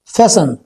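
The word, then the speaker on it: fasten: मैं seat belt को लगाऊंगा, तो सीट बेल्ट को लगाना होता है फैसन, टी साइलेंट है इसमें, तो आएगा I will फैसन seat belt, ठीक है जी।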